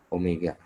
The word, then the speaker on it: omega: sudut, ini omega, ini kita sebutkan, ini adalah dibacanya theta. Kemudian ini kecepatan sudut, ini dibaca omega.